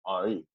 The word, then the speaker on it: Henri: My full name is Henry, and the Haitian way you pronounce Henry, or the accent way you pronounce Henry is Henri.